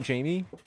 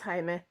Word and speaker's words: Jaime: No, because usually anytime you see that spelling, it's usually Jaime. But I've noticed that some people do spell it with a Y, and that's when it becomes just another spelling of Jamie.